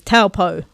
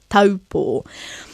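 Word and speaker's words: Taupō: destination, often mispronounced as Taupo. But we don't want to say Taupo because now we know the a sounds like a, ta, and the u, and the o, Taupo.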